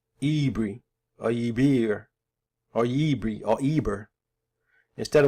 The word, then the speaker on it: Yibir: Yibir, the Yibir or Yibro, some find Yibro is a mispronunciation.